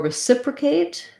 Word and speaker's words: reciprocate: So for reciprocate, stresses on the s syllable. We have an I vowel in the unstressed first syllable. This O says a schwa, recipra. The A says its name because there's the E. So K, it's going to be the A diphthong.